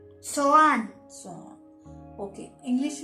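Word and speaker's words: soğan: जिस तरह इंग्लिश में हम कहते हैं साइलेंट हो जाएगा। इंग्लिश में अनियन, प्याज को ये लोग टर्किश में कहते हैं सोआन।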